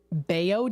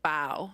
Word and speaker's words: bao: It's called, it's pronounced bao, I believe.